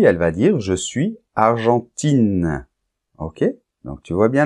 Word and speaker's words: argentin: vois bien la différence argentin avec la nasale Argentine il n'y a plus de nasal parce qu'il y a un E qui détruit la nasale en fait et on entend I et n argentin Argentine allemand on